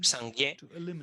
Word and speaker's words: Sangye: Bien, eso es sang, la primera sílaba. Y luego gye, sangye, la segunda sílaba.